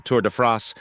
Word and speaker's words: Tour de France: to France French pronunciation tour to France English Tour of France is an annual men's